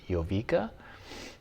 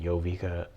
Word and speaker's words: Jowiga: a German company so I believe the manufacturer is pronounced yoa um they started in